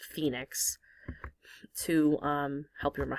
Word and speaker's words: Phoenix: Faux enix, although it's just pronounced Phoenix to um, help you remember how to spell it.